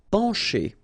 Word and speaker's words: pencher: Pencher. Okay, remember, E-N nasal, pen, pencher. Okay, C and H together will produce the sound sh.